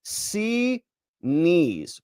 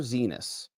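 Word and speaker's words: Xinis: She calls it C knees." Pointing to her eyes and to her knees. C knees. C knees. Don't call her Zenus.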